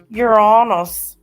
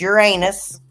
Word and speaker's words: Uranus: I laugh every time somebody tries to say it like wrong on the channels because they don't want to say it like that. It's freaking hilarious. Uranus. No, it's Uranus.